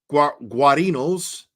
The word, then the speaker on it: Guarino: And then Proctor reads Guarino's, I know I've pronounced that before, it's Guarino, that's how you say it.